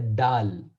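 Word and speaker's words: دال: So, because it starts with a D, it does not mean it's a dal. Rather, we say dal. Dal. Yes, dal. Dal. And the place of pronunciation for it is the tip of the tongue touches to the roof of top two incisors.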